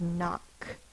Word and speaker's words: knock: it just says n the first one we'll do is knock sound it out n a the first sound is n it's spelled with the k n it goes in one box because it's making one sound if you want to you can cross out the K that reminds you it does not make a